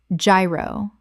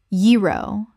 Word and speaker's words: gyro: Gyro. Common mispronunciation: gyro. Correct pronunciation: yee-ro. The G makes a Y sound. This is a Greek word that kept its original pronunciation.